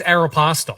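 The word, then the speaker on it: Aéropostale: What about this one? Aeropastel. I say Aeropastel. Aeropastel. I say Aeropastel. I say Aeropastel. It's Aeropostel. Is it? Who said this? My girlfriend said this is what people overseas apparently say. This is Yeah, but the Arapel is an American company. But I think it's Aeropostel. And I looked it up and I Googled it and it said Aeropostel, which I think is absolutely ridiculous.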